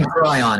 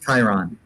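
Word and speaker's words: chyron: probably what is it I say cryon it's Kiron oh I like to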